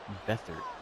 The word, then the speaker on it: Beathard: Beathard.